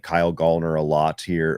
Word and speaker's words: Gallner: I've grown to like Kyle Gallner a lot here, or Gallner, I believe is how he pronounces it, a lot here over the last number of years.